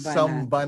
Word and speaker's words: psalm: tinawag natin itong samba samba natin at yyung spelling pa ho ay sam yung PS a l m pero We can still